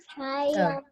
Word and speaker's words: triumphantly: Remember, PH makes F. Triumphantly.